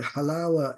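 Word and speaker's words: حلاوة: is called in Arabic halawa halawa the halawa is the is the proper literary pronunciation U the Palestinians in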